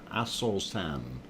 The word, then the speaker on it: Aso-san: So, of course, we went over to Japan, and this is Aso-san, and please don't get that confused. That's A-S-O-S-A-N, Aso-san.